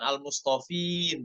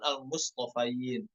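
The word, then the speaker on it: الْمُصْطَفَيْنَ: Perhatikan huruf to dan huruf fa-nya, bukan al mustofin namun al mustofain.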